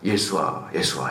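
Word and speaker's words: ישוע: 예수아 이렇게 하잖아.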